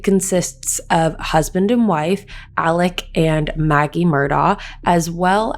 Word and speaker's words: Alec: and the father of the family is named alec murdoch but the way his name is spelt you would think his name is alex murdoch however his name is alec murdoch i also want to correct that it